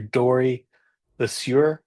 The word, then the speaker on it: Dorie Le Sieur: Dory Lassur. Am I pronouncing that correctly?